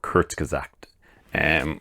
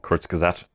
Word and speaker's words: Kurzgesagt: a car channel, but it's a channel called Kurzgesagt. Which, I'll probably spell that out for you because, I'll say it again, Kurzgesagt.